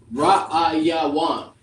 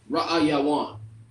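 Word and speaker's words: ראיון: All right, so for the word interview, Ra'ayawan. Ra'ayawan. That's how you say it in the Hebrew. Ra'ayawan in the ancient, Ra'ayawan in the Assyrian.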